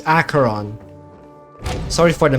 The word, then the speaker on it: Acheron: me whatever you want I said Aeron I'm so sorry it's acaron sorry for the mispronunciation